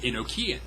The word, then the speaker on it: Enochian: LaVey called and nakia it's also called Enochian depending on how you want to pronounce it and he had claimed